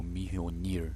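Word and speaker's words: Mjölnir: bom Google tá me falando aqui que a pronuncia é Mjolnir.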